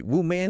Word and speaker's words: woman: Singular is wh man. The first syllable sounds like woo. Like what without the t? Woo man.